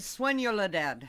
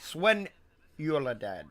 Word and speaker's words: Soledad: You got to say it right. Swenyuladad. Swenyuladad.